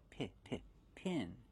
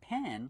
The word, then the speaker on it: pin: just regular pins pronunciation use the short I sound like this is p p pin not pen like you're right with but pin these are regular push